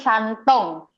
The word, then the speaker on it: Shandong: sandong iya ya Heeh tulisannya sandong tapi kalau bacanya tuh santung tapi dia di cingtaau